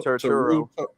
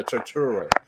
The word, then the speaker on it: Turturro: John Turturro, is that how you say his name? John Turturro. Yeah, Turturro.